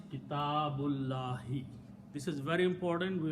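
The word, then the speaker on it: كِتَابُ اللَّهِ: small swad on it, which means do not pronounce that alif. So the word is Kitabullahi.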